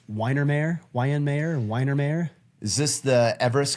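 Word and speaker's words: Weihenmayer: I believe his last name is pronounced Weinermeyer, Weinermeyer.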